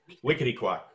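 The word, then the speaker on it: Wequetequock: And the, I don't know how to pronounce this. Wickety-quack. What is it? Wickety-quack.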